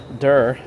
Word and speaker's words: der: Dare. Der. It's actually pronounced similar to dare.